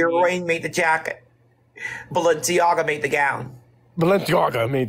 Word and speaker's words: Balenciaga: Say it properly. Balenciaga. Okay. Like, it's like when you say Balenciaga, you gotta say that shit like you're casting a spell from like Harry Potter, like Balenciaga.